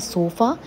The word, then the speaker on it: Sofa: So now something very important in any living room would be a sofa. And in German, it becomes Sofa. So that's how pronunciation changes. Sofa becomes Sofa.